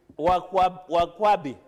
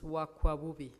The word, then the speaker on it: Wakwabubi: Point of order, Wakwabubi. Wakwabi. It's Wakwabubi. Wakwakubi, as one of our... Say it correctly, it is Wakwabubi.